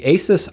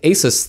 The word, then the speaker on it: Asus: an aside i know the pronunciation of asus is supposed to be like a and then soos like dr seuss but when you say it quickly it's easier to just say asus so that's how i